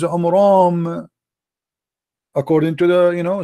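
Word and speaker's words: Amram: First of all, the father of Moses, his name is not Umran. His name is Umram, according to the, you know, so he got the name wrong.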